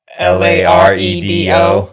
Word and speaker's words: Laredo: He's Is it Loro or Laredo? How is it spelled? L A R E D O Laredo.